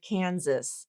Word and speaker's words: Kansas: We also have I wanted to just point out the word Kansas. So that first S in Kansas is a Z sound, not an S sound, but the second S is an S sound.